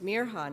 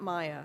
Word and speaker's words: Mirha: My name is Mirha, not Maya, she told Hayden proudly, and explained how to pronounce it properly.